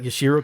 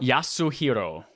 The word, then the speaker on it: Yasuhiro: Yashiro Kitao? Yasuhiro. Think of them in two letter syllables.